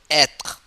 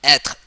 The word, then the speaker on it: être: So être. Être. This is a verb to be. Être, to be.